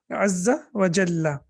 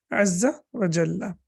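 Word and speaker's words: عز وجل: So generally people say azza wa jal, which is really not the right way to say, because it is azza wa jalla.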